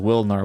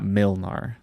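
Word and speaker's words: Mlynar: Apparently his name is pronounced Wilnar with a W. It's not Milnar.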